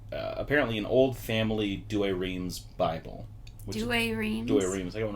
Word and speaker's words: Douay-Rheims: a copy of apparently an old family douay-rheims do a rheem is there one right there it's a catholic